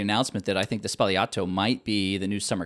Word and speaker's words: Sbagliato: Americans like, okay, would pronounce it Sbagliato. Sbagliato. There's a G in it, but the Italians don't pronounce that.